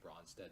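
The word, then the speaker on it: Brønsted: with the line and it's Norwegian letter it's when you pronounce it's kind of like between an O and an ESO bronsted-lowry but I just say bronsted is all most people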